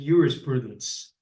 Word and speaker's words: jurisprudence: is about jurisprudence, or as the Romans would have said, jurisprudence. They pronounce the J as a Y.